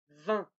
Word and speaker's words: vin: Et finalement, les lèvres étirées, vin, vont, vent, vin.